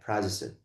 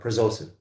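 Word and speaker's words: prazosin: Prozisonin or Pzosin. People call it both ways, right?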